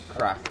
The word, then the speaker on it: craic: Crack. Crack. Oh, well, that's spelled Have you heard?